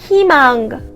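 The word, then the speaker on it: 희망: look at this word “Huimang” I don’t say heemang or hemang I say “huimang” If this combinational vowel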